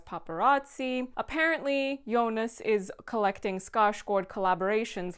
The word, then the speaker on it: Skarsgård: And if you are new here and you have not already heard me say this, Skarsgård is how you say it på svenska.